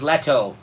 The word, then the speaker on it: Leto: know you know see nicely wensley no one's Leto Leto you pronounce it the right way all right yeah